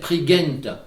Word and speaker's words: Prigent: comme il le dit la bonne prononciation devrait être tri-gate mepha bon et sa